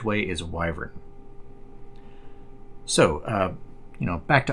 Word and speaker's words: wyvern: checked some other places and apparently the correct pronunciation of this word is wyvern I might flip back and forth the way